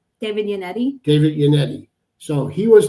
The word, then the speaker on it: Yannetti: Well, first, let's not forget about the original lawyer, the first lawyer, David Evanetti. Did I say his name right? David Yannetti.